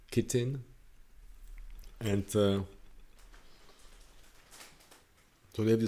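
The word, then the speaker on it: chitin: if it's czech language it's pronounced hiten i think english is pretty pronounced kitten and so they have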